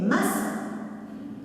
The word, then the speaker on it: maçon: La première lettre, c'est un C, mais avec une cédille. C'est ce petit 5 en dessous du C qui permet de transformer le K en C.